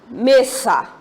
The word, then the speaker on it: mesa: Se eu for jogar, por exemplo, a palavra mesa. Mesa. Vocês observem que quando eu pronuncio mesa, me é a sílaba tônica, mas mesa não é acentuado, né?